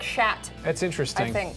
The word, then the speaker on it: chat: word for hatat actually only they say it different cuz they got weird voices yeah they say it like shat that's interesting I think